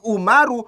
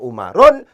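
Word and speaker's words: عمر: ini udul karena demikian Umar uh memenuhi persyaratan untuk kemudian diangkat sebagai semua ilmu Syarif karena demikian Umar uh cara bacanya tidak boleh ditanwin Enggak boleh Dibaca umarun tapi dibaca umaru Kenapa karena dia itu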